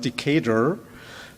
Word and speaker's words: Decatur: Decatur, I actually watched a video today to learn how his name is pronounced, Decatur, wrote to his staff.